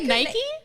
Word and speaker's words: Nike: You don't know how to say Nike? Is it Nike? It's Nike. I get in trouble. I don't. Oh my God, really? I think when I was a kid, it was Nike.